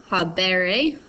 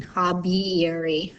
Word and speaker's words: habere: habeo so habeo habere so again you see that e o it's a short e here but it gets squished with that e in the e or e ending to make one long e instead of being hobby erie right instead of having